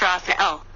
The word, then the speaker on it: Raphael: before me and then vibrate Raphael pronounced Raphael to visualize Gabriel the